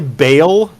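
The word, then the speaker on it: Baal: irradiated hell world of now I'm going to say Bale but it could be pronounced ball it's b a a l with no apostrophe so it's not ball like the Sumerian U so it's either ball or Bale depending on your preference I I've heard ball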